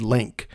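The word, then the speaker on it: Lync: colors by the band link I've always been pretty sure it's pronounced length it's l-y-n-c but if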